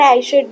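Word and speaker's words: Hesiod: Iliad और ओडसी और इसको ऐसे भी पढ़ते हैं और ऐशुड भी पढ़ते हैं। एच इसमें साइलेंट है।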